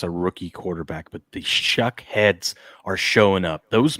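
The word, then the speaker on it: Shough: S H O U G H. But it's pronounced Shuck.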